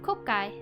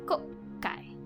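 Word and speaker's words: 国会: The double K indicates there is a pause between the first and second syllables, so instead of kokai, it's kokai.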